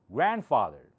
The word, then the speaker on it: grandfather: Grandfather, grandmother. See, I'm not saying grandfather. This D is almost silent. You don't hear it.